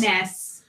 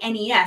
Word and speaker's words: NES: Oh, is this about the pronunciation of yes, the game? Nintendo says. NES.